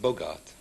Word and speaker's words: Bogart: From France, we welcome Paul Bogart. Paul, welcome to the programme. Is Bogart the right way of pronouncing it? Bogart. Bogart. Just like Humphrey. As in Humphrey.